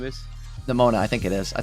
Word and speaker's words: Nemona: Until you draw your Nemona. Is that what her name is? Nemona, I think it is. I think that's how you say it. Sounds like pneumonia.